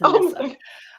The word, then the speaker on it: Anissa: She said the last I is silent. It's a whole mistake. That's what she said. So it's Anissa.